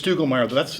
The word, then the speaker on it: Stugelmeyer: It's Stugelmeyer. That's four syllables, isn't it?